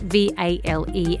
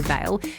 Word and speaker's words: vale: So you know when you're talking about someone who's died, it is spelled V-A-L-E, and I have heard quite a few people say Vale, but it is actually pronounced Vale.